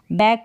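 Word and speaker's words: back: बैक बन रहा है, लेकिन एंड में आपको के भी लगाना पड़ेगा बैक में, तभी ये जो स्पेलिंग है करेक्ट होगी, लेकिन के यहाँ पर बोलने में साइलेंट है, बोला नहीं जाएगा।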